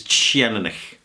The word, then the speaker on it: Teaninich: The way I pronounce it is Teaninich.